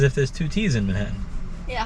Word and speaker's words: Manhattan: in manhattan it's not manhattan neo it's manhattan what's the difference you you pronounce each t as its own separate t there's a t in